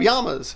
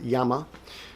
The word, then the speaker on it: llama: Those are Incas, They have llamas, things like that. By the way, pronounce it in Spanish as llama. You gringos call it llama, but whatever.